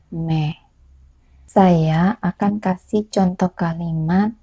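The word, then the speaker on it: मैं: n basah Hindi saya adalah man8 penulisannya dan bacanya Mehe saya akan kasih contoh kalimat kata Hai saya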